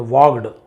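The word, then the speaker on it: walked: यहां पर भी एल साइलेंट वालड नहीं बोलेंगे। वॉक्ड वॉक्ड ऐसे यूज़ किया जाता है।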